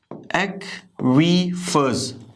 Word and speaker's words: aquifers: aquifers, ठीक है, ये एक्वी की साउंड आएगी, एक्वीफर्स, एक्वीफर्स, एक्वीफर्स and springs.